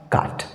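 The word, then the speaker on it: caught: हैं उसी तरह से काट सी ए यू जीएसटी सी ए यू जीएसटी इसमें भी जीएसटी अंत में आया है और इसमें भी जीएच शांत रहेगा अर्थात साइलेंट रहेगा और इसका सही उच्चारण हो जाएगा काट काट और फ्रेंड्स काट जो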